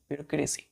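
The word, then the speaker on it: bureaucracy: हैं इसको ब्यूरोक्रेसी ब्यूरोक्रेसी ब्यूरोक्रेसी clear तो प्रोशन पर ध्यान दीजिएगा ब्यूरोक्रेसी ब्यूरोक्रेसी ब्यूरोक्रेसी यहां पर जो ई है बच्चों है ना यहां पर ई साइलेंट हो जाता है ब्यूरोक्रेसी पढ़ते हैं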